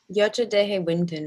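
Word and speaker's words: Yocha Dehe Wintun: mispronounce um the yoshi is it yocha day hey winton is that the right way to say it yocha deje wington is what i've heard okay great amy is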